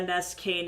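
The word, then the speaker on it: Nskain: Ness Kane. It's spelled N S K A I N.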